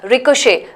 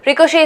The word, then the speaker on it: ricochet: at this one ricochet ricochet is another example of pronunciation versus what can I say spelling right completely different this again is I'm sure it's a French origin word ricochet the T is silent in fact so there